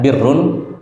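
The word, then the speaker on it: بِرّ: Kalau dibaca barrun itu artinya daratan. Kalau dibaca burrun itu artinya gandum. Kalau dibaca birrun biasa orang sebut birrul walidain. Birrun itu artinya kebaikan.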